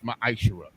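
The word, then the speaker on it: מעשר: You can find this in Numbers 18 and 21, and Malachi chapter 3, verses 8 through 10, means 10th in the Hebrew, and it's pronounced ma'ashera.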